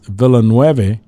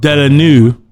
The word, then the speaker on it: Villeneuve: But what I was going to say is the director, Denis Villeneuve, or is that how you pronounce it? I know Jonni pronounced it properly. I butchered it. So I don't fuck Vela-new.